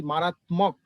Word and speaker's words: মারাত্মক: যদি বফলা থাকে তাহলে মারাত্মক, কিন্তু মফলা থাকলে মারাত্মক।